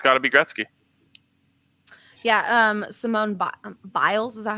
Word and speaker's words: Simone Biles: i think it's gotta be gretzky yeah um simone biles is that how you say her name yeah